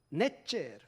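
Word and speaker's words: נצר: 넷제르. 발음이 뭐가 비슷하죠? 나사렛과 비슷합니다.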